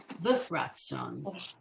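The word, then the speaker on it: ברצון: That's telling us to pronounce that separate from the resh, which is b'ratson.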